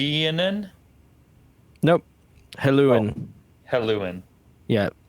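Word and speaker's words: Helluin: it was okay and then nope hello and hello in yeah it's spelled h-e-l-l-u-i-n um yeah it's told that even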